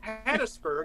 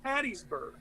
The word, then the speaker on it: Hattiesburg: he said it was in hattiesburg it's not pronounced hattiesburg it's pronounced hattiesburg oh that said that's the fact even though